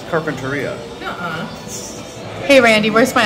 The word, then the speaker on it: Carpinteria: It's Carpinteria.